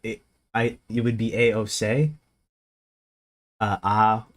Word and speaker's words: AOC: Also, the C isn't pronounced C. It's it's pronounced like say. It It I It would be a O say.